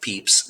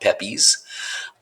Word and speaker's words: Pepys: His name is pronounced Pepys, not Pepys.